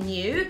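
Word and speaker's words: Nue: brand called n-u-e so i think it pronounced it new and i saw this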